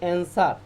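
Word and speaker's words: answer: এই যে অ্যান্সার, এই অ্যান্সারের মধ্যে অ্যান্সার, এখানে এর মধ্যে কোনটা সাইলেন্স? এই ক্ষেত্রে অ্যান্সারের মধ্যে কোনটা সাইলেন্স? এই ক্ষেত্রে ডাব্লু অ্যান্সার, ডাব্লুটার কিন্তু কোনো উচ্চারণ নেই।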